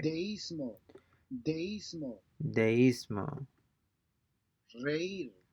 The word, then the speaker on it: reír: Since these words have a written accent over the letter I, the diphthong is broken and the two vowels are pronounced separately. Deísmo, So we have a written accent or the letter I, and by definition, they will be pronounced separately. The vowel sounds will be pronounced separately and not blended together.